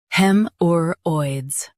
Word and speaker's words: haemorrhoids: Hemorrhoids, hemorrhoids, hemorrhoids. Hemorrhoids. Stress hem and soften Hemorrhoids.